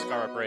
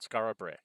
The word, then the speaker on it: Skara Brae: And I assume it's Skara Brae because that rhymes with the line before.